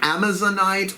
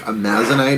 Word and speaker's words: Amazonite: This full to new Amazonite or Amazonite. I've heard it said both ways. I think Amazonite is the right way to say it, but, you know, don't clock me on that.